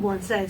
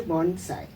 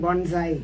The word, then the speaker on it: Bonsai: changed the name to Bonsai and uh it is pronounced as a Sai and not a Zai many people make the mistake of saying Bonsai yeah it is not